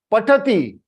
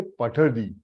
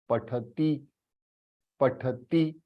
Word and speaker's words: पठति: Hey, don't say pathadi, pathadi. Many of them I have seen, South Indians. Why do you all pronounce pathadi, pathadi? It is not D, it is T. Pathati, pathati.